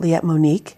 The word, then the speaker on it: Liette Monique: Would you pronounce it Liette Monique?